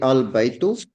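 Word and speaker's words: البيت: Like al-baytu. So we are pronouncing the Hamzatul Wasal. Al-baytu, because before this Hamzatul Wasal, there is no letter. Before the al-baytu, there is no letter.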